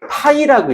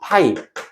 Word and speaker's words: 파이: 기호가 있어요.이 자석 자속 밀도라고 하는데 이걸 이렇게 파이라고 읽어. 파이.